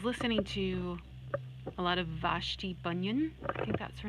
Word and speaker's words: Vashti Bunyan: because I was listening to a lot of Vashti bunyan that's her name hang on I need to actually make sure that's right because I can't be mispronouncing clipless named yeah Vashti bunion I was listening to a lot of her